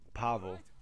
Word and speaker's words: Pavel: little did you know Pavel or that's actually spelled like gravel with the P is actually spider-man what